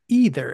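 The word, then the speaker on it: Aether: spell surging either that's AE t h e ER pronounced either as we've discussed mult in multiple episodes of the old Mage MTG podcast sometimes we still screw up and say either but I believe that it's either somebody tell us if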